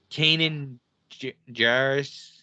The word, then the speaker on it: Kanan Jarrus: So Canon Jarrus. Or is that how you say his name? Canon? Kanan Jarrus.